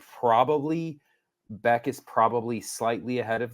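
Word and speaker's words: Bäck: Beck. The umlaut makes it a kind of a Beck, Oscar Beck. Yes. It's okay. Instead of back.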